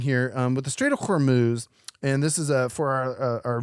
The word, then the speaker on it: Hormuz: Yes, and it's pronounced Hormuz, or as I like to pronounce it, Hormel chili.